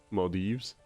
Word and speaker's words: Maldives: Never actually heard it said pronunciation. Maldives.